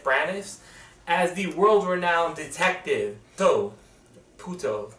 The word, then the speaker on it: Poirot: Death on the Nile not only is directed but also stars Kenneth Branagh as the world-renowned detective Puto. They pronounce it differently depending on what accent you have.